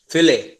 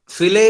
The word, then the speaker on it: fillet: Next है आपका फिले, FILLET, ठीक है। अब देखो टर्म इसकी स्पेलिंग होती है FILLET, लेकिन कोई इसको फिलेट नहीं बोलेगा, इसको बोला जाता है क्या?